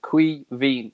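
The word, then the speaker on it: Caoimhín: for anyone it's pronounced queevy so if you think of it being spelled k w double e and then dash v e e n qui veen it's the irish for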